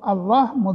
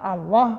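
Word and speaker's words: الله: bukan di loh ya jadi dari segi pelafalan kata Allah sendiri Itu kalau dimulai dengan fathah maka letak him tafkhim tafkhim to tebal Allah tapi kalau by Billah dari dari segi pelafalan Allah sendiri itu berbeda tergantung Hatta sebelumnya bisnis ada mie Nila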